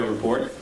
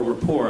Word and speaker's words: Report: Tyson has been a frequent guest on the Colbert Report, or rapport, I guess is the proper pronunciation.